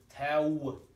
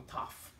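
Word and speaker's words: ת: wow, or a waf, so it's tau. Okay, be like that. Okay, where people say taf, it's not a taf. So those taf people, it's basically they took the vav and they mispronounced that vav into an F sound.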